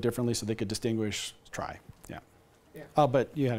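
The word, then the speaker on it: trie: the inventor of the try it's it's sometimes pronounced tree but the yeah but the the the guy that developed it said it should be called the try and I forget which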